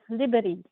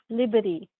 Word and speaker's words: liberi: it sounds like there's a short I in there.